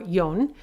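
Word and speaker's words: 四: So 4 can be pronounced shi or yon. And because shi is also a homonym for death, sometimes it's inappropriate to use that pronunciation.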